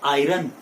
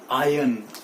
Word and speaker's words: iron: अरे ना भैया ना, इट इज नॉट आयरन, इट इज आयन। R is again silent here. ये जो R है ना वो साइलेंट है यहाँ पे।